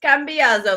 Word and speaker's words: Cambiasso: I just wanted Cambiazo because I really wanted to go like full Glorious Bastards and just pronounce like Cambiazo like they do Margarete.